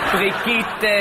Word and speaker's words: Brigitte: ja alles sein aber diese letzte Zeitung da spricht man britischen Tee aus oder Entschuldigung hier muss ich mich Teilmengen diese Zeitschrift in dem nämlich französisch wird Brigit ausgesprochen das rührt daher dass im französischen die Pause vor dem Tee stumm ist das ist ganz im